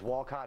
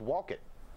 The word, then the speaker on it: Wolcott: to the school is Wolcott hi yes i believe it's pronounced walk it really now it must